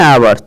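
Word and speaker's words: hour: तो ही was late by एन आवर, चूंकि आवर जो होता है उसके इसका उच्चारण आ से होता है, स्वर से, और कोई भी वर्ड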